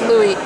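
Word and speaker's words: Louis: from the same Louie pronounce Lewis isn't it no not in French in French s's or silent so yeah it's Louie but it reminds me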